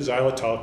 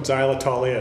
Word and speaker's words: xylitol: now to discuss what xylitol is for those that aren't familiar with it xylol is actually spelled with an X pronounced with a z let's do some homework